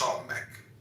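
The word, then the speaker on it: Samekh: comment on Samk. Sam pronounced Smeck transcribed as S.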